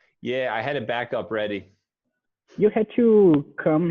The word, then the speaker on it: backup: it now okay um something to note with the word backup is that you want to emphasize the first syllable back back up backup backup so i need